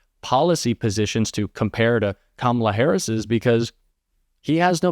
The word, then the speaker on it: Kamala: Because she is Kamala Harris. Not Kamala, not Kamala, because she's Kamala Harris.